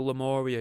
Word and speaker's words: Lemuria: like i say this week it's all about lemuria or lemuria lamoria i'm going to go probably for lumoria even though it's it's spelled l-e-m-u-r-i-a but lemuria a lost continent that's